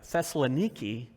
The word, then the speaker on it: Thessaloniki: which is and I looked this up to pronounce it right Thessaloniki Greece modern day Thessaloniki Greece is a real